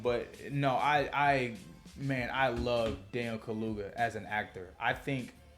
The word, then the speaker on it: Kaluuya: I think it's Daniel Kaluuya. That's how you say his name.